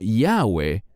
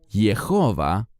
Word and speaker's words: Jehová: Y por eso debe ser pronunciado de esta manera y no Yahweh, como los eruditos alemanes en tiempos antiguos enseñaban. Es mucho más correcto decir Jehová o Jehová.